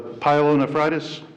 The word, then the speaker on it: pyelonephritis: The pyelonephritis?